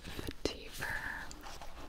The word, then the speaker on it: vetiver: This one's probably Vetiver.